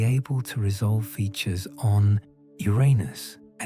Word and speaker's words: Uranus: Some astronomers advocate for adopting the classical Greek pronunciation, which places the emphasis on the first syllable, making it sound like unus rather than the more problematic alternative.